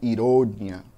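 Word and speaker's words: ironía: No espanhol eu digo ironia, com a sílaba mais forte lá no final.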